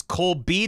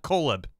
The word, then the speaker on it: Cole B: I should finally say my name is Cole B not colab happy phone souping thanks